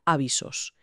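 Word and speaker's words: άβυσσος: Fíjate, en la categoría de naturaleza y geografía, el documento incluye la palabra abistos, que se pronuncia avisos, y significa abismo o la caída más profunda imaginable.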